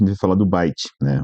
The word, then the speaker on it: byte: Aí já na sequência a gente vai falar do byte, né? O byte ele escreve eh a pronúncia parecido com bits, né?